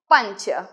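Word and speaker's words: पञ्च: the numbers are एकम द्वे त्रिणी चत्वारी पंच यस जो English में पंच का है सेम उच्चारण इसका है एकम द्वे त्रिणी चत्वारी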